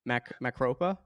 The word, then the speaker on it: Macropa: But Trillium and Macropa, did I say it right? Perfect. We accept all pronunciations of that.